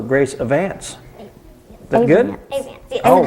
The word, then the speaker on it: Avants: Avants.